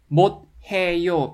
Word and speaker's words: 못해요: This d consonant combines with h consonant in the letter block and it turns into t sound. 못 해요 becomes 못해요, 못해요, 못해요.